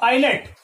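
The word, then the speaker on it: islet: पर जो एस है ये क्या है, एक साइलेंट लेटर है, मूक वर्ण है। अगले वर्ड पे चले तो यहां पर देखो आईलेट, आई एस एल ई टी, आईलेट, आईलेट यानी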